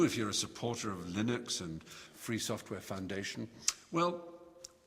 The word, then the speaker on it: Linux: named after his name um Linux or Linux as some people pronounce it and Linux is the